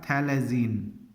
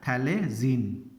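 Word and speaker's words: phthalazine: ठीक है, अगर बेंजीन के साथ पायरिडाजीन रिंग लगा दें तो ये हमारा स्ट्रक्चर बन जाएगा थैलेजीन, PHTHLAZINE, यहाँ पे PH साइलेंट रहता है तो इसका नाम है थैलेजीन।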